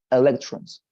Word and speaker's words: electrons: with regard to the pronunciation of the word um electrons right electrons but um apart from that electrons right you have the accent in the second syllable electrons I think that's